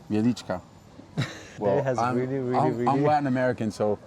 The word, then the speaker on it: Wieliczka: Salt mine, Wieliczka. Wieliczka. Well, I'm Latin American, so it wouldn't be natural for me to pronounce.